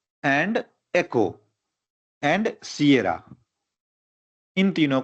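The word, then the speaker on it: Sierra: लिखा जाता है क्यूबेक एस एस को कई लोग सीरा पढ़ते हैं लेकिन उसको पढ़ा जाता है सिएरा ठीक है वाय वाई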